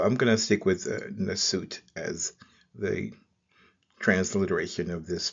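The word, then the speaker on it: nswt: symmetry off, and so the pronunciation is usually Nasut, where we have the ripple of water being the transliterated first, and then the suit plant, and then the loaf of bread.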